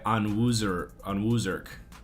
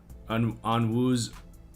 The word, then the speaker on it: Onwuzurike: It's pronounced Onwuzurke. Onwuzurike. Onwuzurike. I got it.